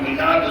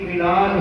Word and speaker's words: میلاد: کہتے ہیں جو یہاں سے چلا جائے، اور میلاد اس کو کہتے ہیں جو یہاں آ جائے۔ حضور آئے ہیں، آنے جانے والوں کا عرس ہوتا ہے، آنے والے کی میلاد ہوتی ہے۔ اچھا دیکھیے، لفظ میلاد، میم یہ